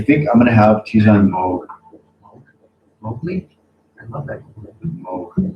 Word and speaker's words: Moog: I think I'm gonna have Tijon Moog.